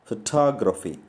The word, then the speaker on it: photography: So the stress takes the second syllable photography.